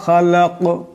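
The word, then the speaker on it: خَلَقَ: মা খালাক এখানে দম সারলে এই কাফ কলকলা হরফ, আওয়াজটিতে এটি টক্কর খাবে।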